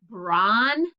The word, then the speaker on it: bronchitis: that affects your lungs bronchitis bron is the first syllable chi kiss go ahead and work on that brawn kai there's the k tiss um looking it